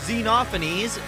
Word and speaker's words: Xenophanes: represents that despite that smug smile he has xenophanese yes that's how you pronounce his name is absolutely Furious that you